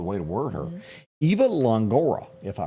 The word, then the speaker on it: Longoria: there's no other way to word her eva longora if i pronounced her name correctly celebrated my birthday today is how you say it yeah longoria was she a part of that women's show